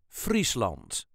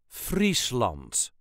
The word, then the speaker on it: Friesland: way us duchies say Frant Frant there is a very slight emphasis on the first syllable Frant f l all the